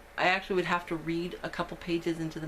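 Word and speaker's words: Wrede: it's by patricia i i'm assuming it's pronounced read w-r-e-d-e it's called daughter of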